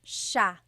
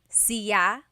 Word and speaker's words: siya: And then just a note about pronunciation, it's sha sha. The s-i-y combination makes the sha sound in Tagalog. Some regions say siya, but in the Luzon, Central Luzon area in the Tagalog region, it's sha sha.